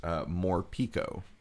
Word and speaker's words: Morpeko: Okay, well, my recipe this week presupposes that it's actually pronounced Morpeko Okay. instead of whatever that was, because I am going to do a Morpeko de Gallo pollo asado taco.